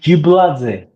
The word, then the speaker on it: Gibladze: Yeah, It's in Georgian like Gibladze.